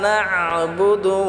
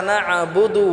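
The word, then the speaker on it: نَعْبُدُ: ইয়্যাকা না'বুদু ওয়া ইয়্যাকা নাস্তাঈন। ইয়াটা আমরা এক আলিফ টেনে পড়ব। ইয়্যাকা না'বুদু, নাটা আমরা গলায় চাপ দিয়ে উচ্চারণ করব। বুদু এটা কোনো টান হবে না।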